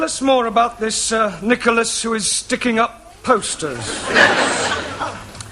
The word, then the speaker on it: Nicholas: upon a times there was a man called nickel ass it's not quite right no no once upon a time there was a woman called Nichol it's pronounced Nicholas all right once upon a time there was